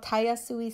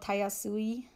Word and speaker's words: Tayasui: It's called Tayasui Sketches.